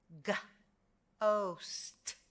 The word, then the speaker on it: ghost: with the letter h this is going to produce a hard g consonant g your h silent try with me ghost but we can have